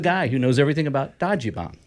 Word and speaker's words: Dajiban: who knows everything about Dody bomb okay that's am I saying it correctly that is you're saying